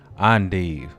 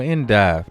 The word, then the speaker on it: endive: Today we doing Endive or Endive, depending on how you say it.